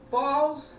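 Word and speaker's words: Bawls: just specify something with the the name it's balls b a w LS not b a l LS balls balls that's how it's pronounced walls I like well all right anyways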